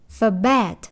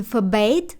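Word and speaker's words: forbade: Різна вимова другої форми у британській та американській англійській. Bet вимовляють у США і Fabbate у Британії. Обидва варіанти правильні.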